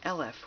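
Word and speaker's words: אלף: all creation and interestingly the letter Olive also if if it has comes with different vowels is pronounced LF which means 1000 so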